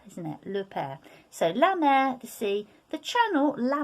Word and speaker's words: mer: on dear the sea say la mer not to be confused with la merc which sounds exactly the same actually for the mother okay we'll saw it